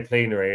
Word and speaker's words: plenary: I I've hear other people say pleenary and it makes me think I'm saying it wrong because I say plenary.